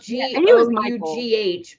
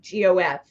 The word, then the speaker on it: Gough: It's spelled Gough, but pronounced Gough like Gof.